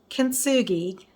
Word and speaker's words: Kintsugi: consugi is okay um kinsugi the tea is silent it's kensuki the Japanese tradition of